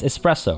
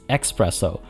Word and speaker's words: espresso: no uh it's it's espresso right but a common mispronunciation of espresso is expresso so polar express